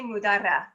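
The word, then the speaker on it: Mudarra: you pronounce that jessica if you can roll the r it's better but that's that's good enough let's let's hear the authentic spanish pronunciation well i say mudara oh beautiful well he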